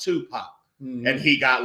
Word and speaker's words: Tupac: oh yes I really love your American rap music your uh tup pack and she was like and I laughed and he was like what are you laughing at she was like well it's pronounced Tupac and he got like